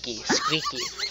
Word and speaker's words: Squeaky: Squeaky. It's pronounced squeaky.